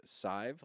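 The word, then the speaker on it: Sadhbh: she her name is Scythe like five but with an S okay because it's spelled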